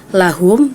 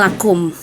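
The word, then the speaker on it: لهم: ayat 25 di situ ada kata lahum tapi d membacanya lakum gitu situ yang pertama lalu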